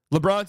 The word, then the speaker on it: LeBron: LeBron's a two-syllable name.